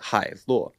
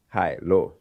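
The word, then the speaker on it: Hailuo: So whenever we're working on a video that requires like any 2D, 3D, we like to use the Howloo. In Chinese, we pronounce it Hai Luo. Hai Luo.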